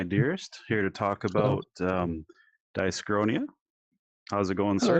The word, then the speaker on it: Dyschronia: like, it's Dyschronia.